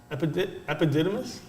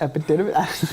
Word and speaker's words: Epidemius: Epididymis? Epidemius? Epidemius? Epididymis? Epidemius.